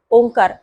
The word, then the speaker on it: ओंकार: डोळे बंद करण्यापूर्वी आपण ओंकार नेमका कसा म्हणायचा आहे याविषयी थोडसं समजावून घेऊयात तर आपण पाहिलं की ओंकार म्हणताना ओंकाराचे विभाजन तीन अक्षरांमध्ये होतं एक म्हणजे अ दुसरं म्हणजे उ आणि तिसरं म्हणजे म तर ह्या अक्षरांचा उच्चार